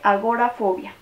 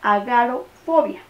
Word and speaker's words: agorafobia: Resulta obvio que agora siempre remite al espacio público o abierto, pero se escribe agorafobia y no agarofobia ni agarafobia.